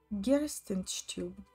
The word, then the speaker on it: Herzenstube: Herzenstube, pronounced Gerstenstube in Russian.